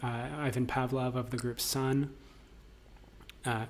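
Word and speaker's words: Сон: Um, he also did a project called Soy Song collaborating with Ivan Pavlov of the group Sun. Uh it's it's spelled C O H but it's it's cerrillic.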